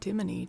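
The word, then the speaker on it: Ctimene: Tim, but with a with a silent C in the front.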